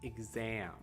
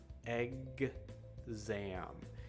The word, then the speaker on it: exam: okay that word is exam exam exam the x is also a little bit tricky to do egg zam you can actually hear a g sound before that even though the letter is x but that's how you